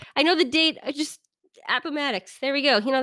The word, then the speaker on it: Appomattox: at i'm gonna butcher the same abba mad Appomattox Appomattox ok April ninth nineteen you do that great 1865 yeah I know the date just Appomattox there we go you know that guy anyways